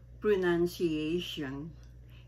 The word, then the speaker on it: pronunciation: Okay, this is the first word, pronunciation. Hindi po yan pronunciation o hindi yan pronunciation. Kasi tayo mga Pinoy, dinidikit ba natin yung sound ng CIA, ginagawa ting shay, no? Dapat po yan i-enunciate natin, no?